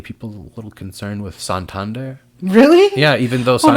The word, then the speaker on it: Santander: the U.S is that how you say it Santander yeah it's because it's a city in Spain